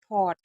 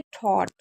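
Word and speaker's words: thought: यहां पर देखिए इसको थॉट क्यों पढ़ा जाता है? बहुत से लोग इसे क्या पढ़ते हैं? थूट आ मतलब अलग-अलग साउंड पढ़ते हैं। लेकिन वो गलत है। इसको क्या पढ़ेंगे? थॉट क्योंकि जी एच हमारा साइलेंट रहता है।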